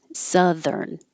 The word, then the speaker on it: Southern: it changes to Sir Southern and the vowel is uh like up Southern and the th is voiced so I made it bold to remind you to use voicing zern and it is